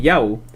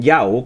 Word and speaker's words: já: sueco se dice efectivamente ya pero en el islandés en su lugar se dice yau una diferencia sutil pero